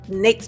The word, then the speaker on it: NAICS: Next up, we have NAICS codes. Rhymes with rakes or snakes.